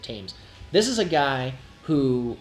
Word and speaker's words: Thames: Pretty sure that's how you pronounce it, Thames.